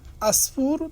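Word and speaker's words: عصفور: হচ্ছে গোসল আসফুরা এখানে আসফুর তো আরবিতে কিন্তু আটা উচ্চারণ করবেন উদার উচ্চারণটা একটু ভিন্ন হয়ে বলবে আসফুরা আইন আসফুর এর অর্থ হচ্ছে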